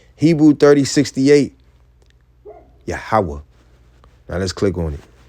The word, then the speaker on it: Yahweh: His name is Yahweh. It's Yahweh, the existing one, the proper name of the one true God, Yahweh, not Jehovah.